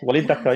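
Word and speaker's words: Walid Daka: You mentioned the poet Wai Daka. I may have Yes. said his name wrong, No, but no, you said it right. Walid Dakka, yeah.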